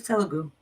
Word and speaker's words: Telugu: It's Telugu. Okay. Yeah, they said I pronounced it right.